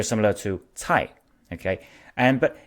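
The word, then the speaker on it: 财: The word wealth in Chinese is pronounced cai. Okay, so some of you may know that Mandarin has 4 tones, so it is in fact the second tone which goes up, but anyway, it sounds very similar to cai.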